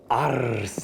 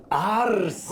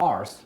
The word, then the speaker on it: Arce: Arce. Do it again. Arce. It's not arse, which is how they pronounced it.